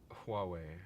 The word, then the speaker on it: Huawei: uh and then finally um Canada is Banning pronounce this company Alex Huawei I really hate that you nailed it uh